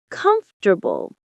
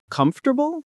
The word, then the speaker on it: comfortable: Most learners say comfortable, but we say comfortable. Comfortable. That sounds weird. I know, but that's how native speakers say it. We drop that middle syllable.